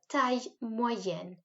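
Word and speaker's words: taille: grand pati and then tai this is tricky to say so i've put out the pronunciation this is like tai like a thai man would wear and this moy it's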